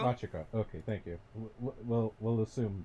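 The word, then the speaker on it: Machico: Machiko? Machiko.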